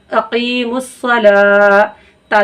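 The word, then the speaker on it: أقيموا الصلاة: अब देखिए यहाँ भी हम वाव नहीं पढ़ेंगे, वाव क्या है यहाँ पे साइलेंट। हमने आपको बताया था ना खड़ा ज़बर किसी का मोहताज नहीं होता है, तो यहाँ पे वाव साइलेंट है, वाव नहीं पढ़ा जाएगा, सिर्फ लाम पढ़ा जाएगा।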